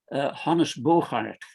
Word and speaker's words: Bogaert: The farmer's name was Hannes Bogaert. So it's the Dutch pronunciation of, if you know the film star Dirk Bogarde, it's the same name, just pronounced and spelt in the Dutch way.